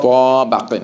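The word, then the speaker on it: طَبَقٍ: Not ta baqin. It's ta baqin. ta, ba, kin, Ta baqin. ta, ba, kin, No. Ta baqin. ta, ba, kin. Good. No prolongation. Let me spell it out to those online. Ta fatha ta. Ba fatha ba. Qaf kasratan qin.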